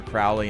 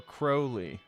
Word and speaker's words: Crowley: Is it Crowley or Crowley? Crowley pronounced pronounced it himself. Crowley like the bird. And he said it rhymes with holy.